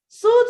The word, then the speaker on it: suit: Okay, so you've but I've even went, soot, yes, it's soot. Suit is what you wear to work. You wear a suit.